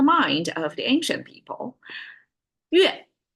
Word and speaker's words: 月: 月 is how Chinese pronounce it, and I couldn't find anything that's kind of English equivalent like 月. We don't really have a 月 pronunciation in English, so you have to try harder there.